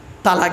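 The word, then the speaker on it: طلاق: শব্দটা কি বলতে পারবেন তালাক দেয় না শব্দটা কিন্তু তালাক নয় শুনে নিন শব্দটা তালাক নয় শব্দটা হলো তলাক কি বললাম তলাক ওর আরবি উচ্চারণ কি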